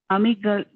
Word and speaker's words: amygdala: Increased amygdala, sorry, I couldn't pronounce that word. Amygdala.